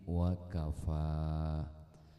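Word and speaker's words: وكفى: Bahasa Arabnya alhamdulillahi wakafa. Wakafa di ujungnya ada huruf ya, dibacanya panjang.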